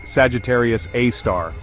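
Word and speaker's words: Sagittarius A*: Pronounced Sagittarius A star.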